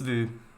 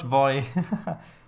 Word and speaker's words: Vue: So, yeah, it's VU. So VEU, I think it's spelled. Oh, VUE. Yeah, there we go. Couldn't remember which way around the two letters went. Not voy.